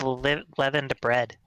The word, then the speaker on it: LVENdead: Because I was gonna play his Wait, is that how you pronounce it? I thought it was LVENdead. It's leavened bread.